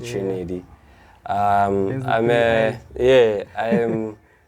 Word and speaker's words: Triniidy: so I you know I pronounce it how I write it Trinity um I'm yeah I